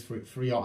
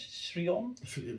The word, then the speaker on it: Theron: Charlize Theron. I always say her last name wrong.